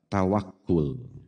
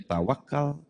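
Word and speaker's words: tawakkul: dalam keseharian kita adalah tawakul. Tawakul yang setelah masuk ke Nusantara berubah prononsis pengucapan menjadi tawakal, dan bahkan setelah masuk ke Priangan berubah lagi menjadi tawakal, diambil dari kata wakala yang artinya menyerahkan, mempercayakan, atau mewakilkan.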